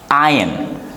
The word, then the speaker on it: iron: Iron, iron, iron, iron, iron. This is R and R is silent, like you iron your dress, you iron your clothes.